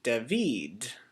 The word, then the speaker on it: David: like uh David um where the emphasis is above the a David we're going to say David so we put the accent above the I and so the stressed syllable is this uh vid part deid or I